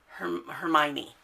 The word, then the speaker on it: Hermione: that you saw on the other side was Hermione. Hermione, that's what it is. I always had a hard time pronouncing her name.